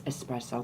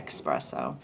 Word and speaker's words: espresso: And it's espresso, guys. Please don't say espresso.